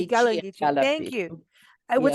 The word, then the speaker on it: Gullah: Gili Gulchi, The Gala and yes, Geechee and Gullah.